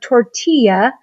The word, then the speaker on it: tortilla: When you see these two L's together, it turns into the Y sound. Think of the word tortilla.